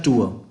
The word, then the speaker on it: tour: अब ध्यान रखिए, इसको हम लोग जो है वो टूर बोलते हैं, बट एक्चुअल में इसका प्रोनाउंसिएशन होता है टूर। र का साउंड इसमें नहीं आता है, ध्यान रखिए।